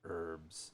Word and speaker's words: herbs: And I'd always go, "No, I mean herbs." So yes, we do not pronounce the H here, but lots of English speakers do.